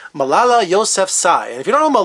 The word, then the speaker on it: Yousafzai: Yousafzai. I spelled it how it sounds. Malala Yousafzai.